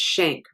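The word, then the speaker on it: Schenck: first amendment so the the k you pronounce it with a shank it looks like schneck but it's shank versus united states um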